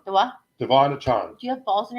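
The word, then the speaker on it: De'Von Achane: Devon Achan. The what? Devon Achan.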